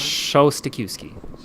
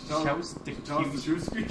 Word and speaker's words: Szostakiwskyj: I'm like, Yeah, the trick's not to pronounce the J or the Z.